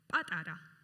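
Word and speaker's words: პატარა: Patara. Patara?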